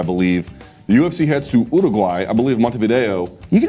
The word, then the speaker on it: Uruguay: Repeating how native speakers say the name of their own country is not a problem. It's actually the way we should do things.